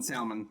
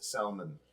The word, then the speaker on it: salmon: Because I get a lot of shit for pronouncing the L in salmon. If you could So- spell my dad boysenberry. says salmon.